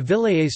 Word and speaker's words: Vilayet: The Vilayets, Turkish pronunciation, Vilayet, of the Ottoman Empire were the